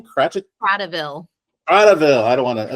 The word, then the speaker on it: Kratochvil: Kratochvil.